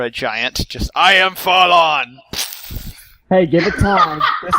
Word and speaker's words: Falon: being brought to him spell with one L not two yep H so Fen faen fall I pronounce it Fallon but all right give